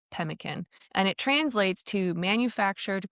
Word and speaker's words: pemmican: We're going to assume it's roughly pronounced pemkin.